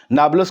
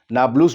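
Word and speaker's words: Nablus: ये नाब्लस का पूर्वी हिस्सा है। नाब्लस एक शहर जो वेस्ट बैंक में आता है, नाब्लुस भी कहते हैं, नाब्लस भी कहते हैं, उसे अलग अलग प्रोनाउंसिएशन है।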